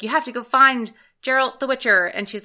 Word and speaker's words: Geralt: Sorry. Hard G. Geralt.